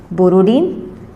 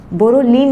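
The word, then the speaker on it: Borodin: नाम है इसका बोरोडीन, बोरोलीन नहीं, बोरोडीन, बोरोडीन हुंसडिगर रिएक्शन।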